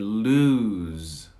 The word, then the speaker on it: lose: advise advice number two we have loose and lose loose and lose so let's try it loose